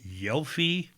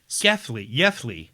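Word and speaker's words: Gävle: believe, in Sweden at I want to say Gelfi, spelled Gelfi, Gelfy. nice Sweden, But it's pronounced. Oh no, it's Gefli.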